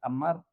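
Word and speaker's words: אָמַר: La palabra en hebreo dijo se pronuncia amar.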